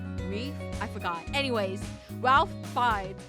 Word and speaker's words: Ralph: Ralph. Sorry. I know I I'm mispronouncing his name cuz I know his name is not Ralph. I think it's pronounced like in the French way. Reef.